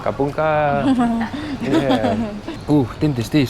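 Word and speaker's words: ขอบคุณค่ะ: Kapun ka. Kapung ka.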